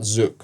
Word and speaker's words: Zouk: just and someone told me go check out Zuk. uh for people who never heard of Zuk. It's spelled Z O U K and uh yeah and then I went to Zuk and I met you and the community is